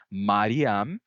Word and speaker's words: Mariam: A gente sabe que havia pronúncias mais antigas, como é o caso de Mariam, que foram registradas por judeus séculos antes. Então, Mariam é uma pronúncia mais antiga do que Miriam.